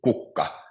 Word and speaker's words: kukka: So for example, the word kukka, which means flower, so it's kukka, and it's always on the first syllable.